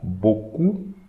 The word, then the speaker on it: beaucoup: EAU, as we are going to read EAU like O, and we should not pronounce the P here as well as the S here.